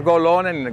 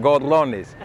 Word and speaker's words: gorrones: R tienen que saber, no es golones, gorrones, con doble R.